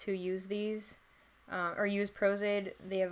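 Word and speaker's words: Pros-Aide: I think usually makeup artists who use these, or use Prozaid, they have like a blow dryer and they'll speed up the process of drying that way.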